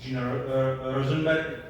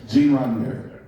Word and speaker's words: Gene Roddenberry: In the title was said that it's Gene Rosenberg. I can pronounce it. Sorry. Gene Roddenberry.